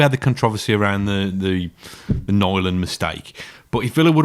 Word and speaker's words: Nyland: Do we say Nyland or Neuland or Newland? I think it's Nyland. Nyland.